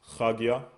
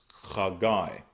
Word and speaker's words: Haggai: Next, we have Haggai, which is pronounced Chagia. Okay. Chagia. But they pronounce as Chagai.